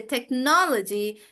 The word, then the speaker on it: technology: Yeah, but technology, because it's on no, so we say technology, technological, like that.